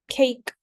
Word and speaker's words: cake: This pattern has a silent E at the end that makes the vowel before it says its name, turning into a long vowel sound.